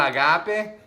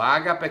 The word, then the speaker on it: ágape: Está el agape, o ágape, que a veces lo pronunciamos de esta manera, ¿verdad?